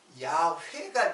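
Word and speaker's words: 야훼: 그게 그게 우리들이 글자로 쓸 적에 이게 야회가 되는 거예요. 야회. 그래서 이에보다는 그냥 우리 한글로 쓰면은 뭐야 이게? 야회예요. 야회. 그래서 우리말로 여호와라고 쓴 것이지 실제로 발음은 야회가 더 가까워요.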